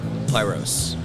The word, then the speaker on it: Pyros: Pyros.